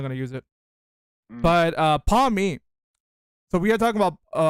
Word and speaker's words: Pawmi: Pawmi. But yeah, Pawmi.